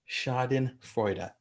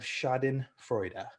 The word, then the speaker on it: schadenfreude: that i had to learn how to uh pronounce turns out the word was shadin freuda schadenfreude looks look ups of this word spiked 30